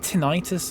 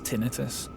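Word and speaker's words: tinnitus: I don't get tinitis though. I don't like that it is tinitus. Um because it's not it's not itis it's its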